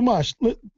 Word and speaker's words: Mosh: So Mosh, first of all, talk about the correct pronunciation of your name. It's mosh, like a mosh pit.